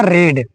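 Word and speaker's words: read: के क्या हो जाएगा, रेड। लिखा था स्पेलिंग सेम है लेकिन प्रोनाउंसिएशन अलग होता है, रेड पढ़ेंगे, यहाँ रीड है, यहाँ रेड है ना।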